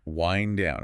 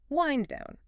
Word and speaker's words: wind down: But here we use the long I sound, wind down. It rhymes with find or kind.